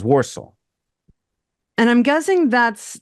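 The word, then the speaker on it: Walsall: it up okay and warsal is spelled w a l s a l l walel well but you hear Rob in the book when he reads it saying it sounds like he says waro and I'm guessing that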